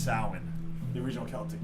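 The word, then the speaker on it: Samhain: it's just flies what does the celebration of Sam Hayne signify the death of the earth and the rebirth exactly this is a little fun fact party kids out there it's actually pronounced salmon the original Celtic pronunciation wow that's gay I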